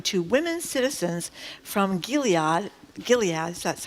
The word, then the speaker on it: Gilead: maid's tale reading to women citizens from Gilead Gilead is that's how you say it their Bible